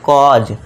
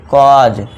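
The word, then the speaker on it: cause: कॉज। इसे क्या पढ़ेंगे? कॉज। तो कॉट नॉट कॉज। कॉजे नहीं पढ़ना है। ध्यान देना है। कॉजे नहीं करना है आपको। ठीक है दोस्तों? कॉज पढ़ना है। नेक्स्ट देखिए 11th।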